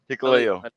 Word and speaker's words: Hikuleo: How do you pronounce his name, Bryce? Hikuleo.